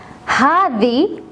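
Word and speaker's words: هذي: harder is for masculine Hardy is for feminine but we have another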